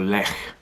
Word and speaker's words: Lech: This is a can of Lech, or Lech as it's pronounced in Poland.